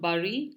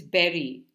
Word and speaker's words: berry: synonym for an island the last word here is berry it's not bury the way it's normally pronounced it is berry so like the fruit b e r r y same way it's Berry we bury things okay so more in